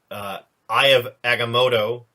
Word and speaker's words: Eye of Agamotto: He uses the Eye of Agamotto, which I can. That's the one. That's the one I'll defer to you for pronunciation, Brian.